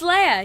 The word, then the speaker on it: Leah: your last name correctly is it leia or leah how do you pronounce it it's leia yeah you got it right like the princess yeah of course your